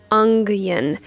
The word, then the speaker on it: onion: Okay, so fun fact, I have a really hard time not pronouncing onion like ungion.